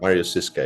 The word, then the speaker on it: Marius Ziska: Is correct the pronunciation? That is correct, Marius Ziska, yeah.